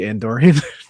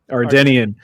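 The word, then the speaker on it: Ardennian: The Andorian? Did I say it right that time? No, Nope. Ardenian.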